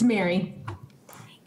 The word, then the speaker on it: Mari: up the testifier um mari knutson from hennepin healthcare system i think it's mari did i pronounce it right mari it's mary mary mary knutson did